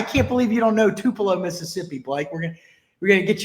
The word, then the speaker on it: Tupelo: By the way, it's pronounced Tupelo. I can't believe you don't know Tupelo, Mississippi, Blake.